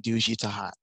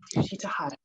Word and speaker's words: Duji Tahat: No, you had it. Yeah, Gabrielle Bates and Duji Tahat. Yes, Duji Tahat.